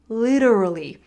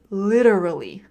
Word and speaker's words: literally: Literally. And you can do it as well. Think about the T as a D. Literally. Literally.